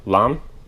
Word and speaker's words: lame: at that point we're going to take our lamb it's spelled lame uh like a lot of you